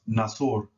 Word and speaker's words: nasor: N's are hard. Therefore, that word is pronounced nasor. Nasor. Always remember, UR is or, as in OR in English, or. Never never always or, nasor, which means to help.